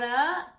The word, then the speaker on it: Laura: I'm Laura, pronounced like turn the music, Laura.